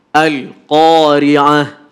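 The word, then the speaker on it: القارعة: Oke, kadang-kadang tanpa kita sadari, seolah-olah lam ini masuk, kita bacakan seperti huruf qalqalah sehingga bacanya begini. Al-Qari'ah. Kenapa harus ada pantulan? Salah itu. Padahal harus ditahan. Al-Qari'ah. Langsung. Al-Qari'ah. Oke? Tidak boleh ale. Itu enggak boleh.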